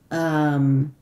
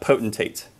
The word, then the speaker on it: Potentate: Yes, I am Potente. Is that how you say it? I believe that would be Potentate.